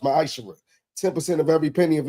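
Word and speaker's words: מעשר: Means 10th in Hebrew and it's pronounced ma'ashara.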